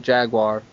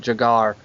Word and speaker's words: Jaguar: That way we would pronounce it Jaguar. Okay. Over there they pronounce it Jagar.